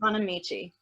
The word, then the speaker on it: Bonamici: Yeah, Suzanne Bonamici.